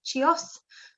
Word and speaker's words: Chios: charcoal is it's because the arrogant isle of chios that's how you say it um so that's